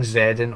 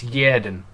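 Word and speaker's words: Xherdan: I think all this time, I think I've been saying Shaqiri's first name wrong. I've been saying Zerden all season. I think it's Yerden.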